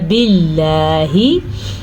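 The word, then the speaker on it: بِاللَّهِ: باللہ، لفظ اللہ کو ہم نے باریک پڑھا کیونکہ لفظ اللہ سے پیچھے والے حرف کے نیچے زیر ہے.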